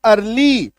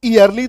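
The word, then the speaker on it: early: ये देखो जैसे कि ई ए आर एल वाई, ठीक है, इसको हम लोग क्या पढ़ते हैं? अर्ली। इसको ईयरली तो नहीं बोलते, मतलब यहां पे ई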